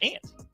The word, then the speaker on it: aunt: How do you pronounce the word AUNT? Ain't. AUNT. Out. That's aunt. It's ant.